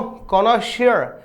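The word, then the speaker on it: connoisseur: सुनिएगा इसको, कॉनोशियर। ठीक है, कॉनोशियर, यस, ये इसका उच्चारण रहेगा।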